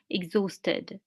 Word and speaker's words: exhausted: feel worn out exhausted here the itch is silent each is the silent so we say exhausted all of these words